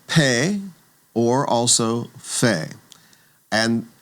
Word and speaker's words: pe: So, it's pay, also called fe, and it's going to get the p sound when we have the doggish in the middle. It'll get the ph sound when it does not.